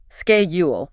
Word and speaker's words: schedule: Oh yeah, schedule, hard K.